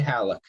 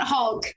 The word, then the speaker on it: Haluk: Yep, Haluk, it's perfect. Yay, thank you very much. All it's right. Not Hulk. It's not Hulk. Haluk. Yeah, Haluk. So Desirae, let me give